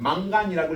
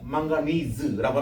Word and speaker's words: 망가니즈: 요거 어떻게 읽냐면 mn을 옛날에는 만간이라고 읽었는데 지금은 망가니즈라고 합니다.